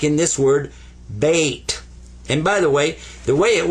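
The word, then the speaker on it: بيت: Sukoon means don't pronounce it, but give it some value anyway. This is bait.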